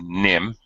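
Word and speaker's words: Nîmes: it looks in English like nmes but it's pronounced Nim uh means of of nim is actually the name denim uh yes that's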